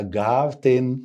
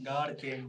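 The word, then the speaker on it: Garten: اما الجي قول معايا جارتن. جاردن. وقلت لكم ساعات الار او الار بتتنطق غين.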